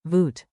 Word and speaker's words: Wat: Wat? Like, voot. Plus, Kos. like, kos.